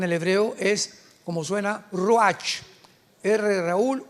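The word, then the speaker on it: רוח: Apunta la palabra espíritu en el hebreo es como suena roach, rúl u a c. Pero la ch en el hebreo se pronuncia como j. Roaj es la palabra para espíritu en hebreo.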